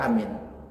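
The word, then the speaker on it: آمين: A-nya jangan terlalu panjang. Sedikit aja panjangnya, minnya yang panjang. Amin. Nah, ada yang parah lagi, panjang kemudian pakai berdengung. amin. Nah itu salah itu. Amin. Dia mau mengikuti waladdallin. Dibacanya amin. Salah itu. Dan bacanya huruf hamzah ya, a bukan ha. Banyak orang baca ghairul maghdubi alaihim waladdallin. Ha, jangan ha. A dengan amin.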